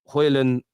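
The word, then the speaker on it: Højlund: it's very very good return uh Terry you pronounce uh hoylan uh correctly already except the D is signed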